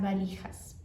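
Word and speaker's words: valijas: que é com V, mas se pronuncia com B, porque no espa argentino todo, não importa B ou V, tem o mesmo som do B.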